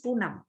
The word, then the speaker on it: Poonam: Now my name is Poonam. Poonam. Although I have 6 letters, I have 2 unit of pronunciation, 2 pause there. Okay, at once I say poo. I can't say na, m, no, num.